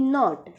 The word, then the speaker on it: knot: Next है KNOT नॉट, इसको हम नॉट पढ़ते हैं, इसका K साइलेंट हो जाता है।